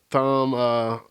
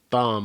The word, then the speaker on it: Thom: Tom, it's actually pronounced Thumb, I think, like Thom.